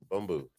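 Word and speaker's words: Bumbu: I got Bamboo. B-U-M-B-U. Say it again. Bamboo. Now you said it right.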